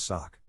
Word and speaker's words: sachet: it french boy here the real pronunciation is sock with a mute t and a stressed shorty english speakers tend to